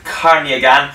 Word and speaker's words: Khanagyan: and Lisbon this year is said like Kanye gone sorry if I mispronounced